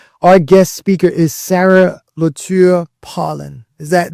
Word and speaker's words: Lauture: So our guest speaker is Sarah Lauture Pullen. Is that, did I pronounce that correct, Sarah? With Lauture Pullen, yeah, but Lauture, you said it right away.